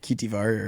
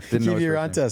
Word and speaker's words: Kiviranta: I'm great at pronunciating Finnish names. You'll see. We couldn't get Kitivar. No, Kiviranta. Kiviranta, sorry.